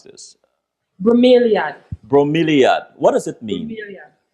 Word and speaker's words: Bromeliad: How you pronounce this? Bromeliad.